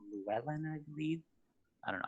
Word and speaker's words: Llewellyn: we have this side road, which is called Llewellyn, I believe. I don't know how you pronounce that. Any comments about this intersection? Llewellyn is correct, yes.